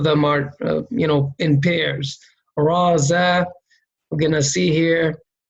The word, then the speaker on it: ز: This is pronounced as Za. And Za is a light letter, right?